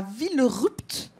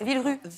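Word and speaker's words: Villerupt: vous êtes électromécanicien à ville rupte c'est ça faut pas dire le on prononce pas le PT en fait vue ça suff V rue vous embêtez pas avec le PT voilà on pète pas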